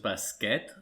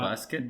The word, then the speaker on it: bàsquet: Si em permets, crec que la pronunciació és basquet en català, no bàsquet.